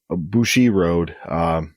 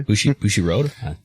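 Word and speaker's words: Bushiroad: And we will go from Mexico to Japan, and the finances of Bushi Road. Did I pronounce that correctly? Bushi Road?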